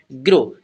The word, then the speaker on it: grow: Word जो आता है यहाँ पर GROW, इसे हम क्या पढ़ेंगे ग्रो, क्या पढ़ेंगे ग्रो। जो W हमारा लास्ट में आएगा वो यहाँ पर साइलेंट रहेगा और इसे हम क्या पढ़ेंगे ग्रो पढ़ेंगे, ठीक है।